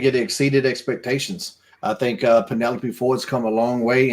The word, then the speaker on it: Penelope: It's Penelope Ford, or as Booker T likes to say, Pentaloop Ford.